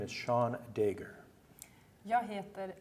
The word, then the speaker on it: Seán Dagher: My name is Seán Dagher.